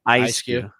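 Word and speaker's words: Eiscue: both italians radiant greninja adam pronounced this word for me eskew right ice cube uh a manafee and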